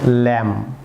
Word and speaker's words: lamb: যেমন DOMB, viewers এখানে be silent থাকবে, ডাম। যেমন ল্যাম, LAMB, ল্যাম, নট ল্যাম্প, ল্যাম্প।